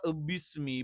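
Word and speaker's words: بِسْمِ: വരില്ല പകരം എന്ത് ചെയ്യും ഇ ഈ രണ്ടിന്റെയും ഇടയിലുള്ള ഒരു ഉച്ചാരണം വരും അപ്പോ ബിസ്മി ബിസ്മി ബിസ്മി അപ്പോ ബിസ്മി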